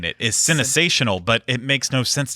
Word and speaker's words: CineSational: But I see CINE, and I think Cine, like cinema. It's supposed to be CineSational.